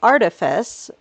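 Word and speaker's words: Artiphys: Miss Artifus, whose name is pronounced like Artifice, is revealed to be a transgender woman.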